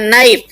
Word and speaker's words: knife: जैसे KNIFE में के साइलेंट है, इसको हम पढ़ते हैं नाइफ।